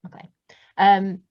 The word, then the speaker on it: MacLean: Or MacLean, I can't remember how you say it. Like John McClane, like Die Hard. Yeah, that's it, MacLean.